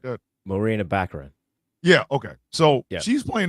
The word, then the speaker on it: Baccarin: I cannot pronounce that woman's name. Oh, let me see. Barcarina or some shit like that. Marina Baccarin.